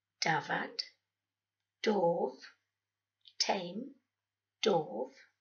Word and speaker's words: dafad: One F is always a V sound, while two Fs make the F sound, as in dafad, sheep, dafad, dof, tame, dof, ceffyl, horse, ceffyl, coffee, yeah, that's coffee, ffrind, friend, frind.